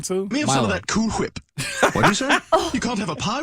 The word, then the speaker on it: Cool Whip: Whip yeah cool whip Cool Whip Cool Whip Cool Whip Cool Whip you're saying that weird why are you putting so much emphasis on the H what are you talking